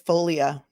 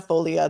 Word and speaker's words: Foglia: who said this it's Folia it's Folia obviously Mary Murphy is obviously not Italian but it is Tina Folia the g is silent you are correct that